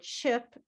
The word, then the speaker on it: chip: So, chip is pink. Chip is a pink word.